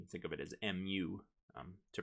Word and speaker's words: mu: we refer to this as mu the greek mu which um you can think of it as mu to pronounce it uh and and that's going to